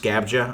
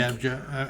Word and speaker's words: Scabbia: I think it's pronounced Scabja, I think. Scabja.